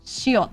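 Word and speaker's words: 시옷: When it's at the end, you just stop the sound as if you're about to pronounce an S, but you're not pushing any air out.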